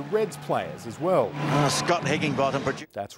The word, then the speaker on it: Higginbotham: Scott Higginbotham. That's right, Scott Higginbotham. If you say it the way the Aussies do, you sound like a yob dropping his G's.